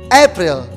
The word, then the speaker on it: April: and then the next april april april the stress of the april is in the first syllable april let's say